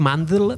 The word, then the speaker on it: Mandl: Bueno, la qüestió és que Mandl, furiós, dic Mandl perquè això és M-A-N-D-L.